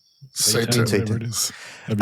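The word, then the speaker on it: seitan: Uh, Satan.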